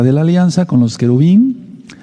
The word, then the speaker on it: querubín: la alianza con los querubín, no querubines, sino querubín es lo correcto.